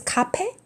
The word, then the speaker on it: 카페: What is 카페? It's pretty much different from the original pronunciation. It's cafe.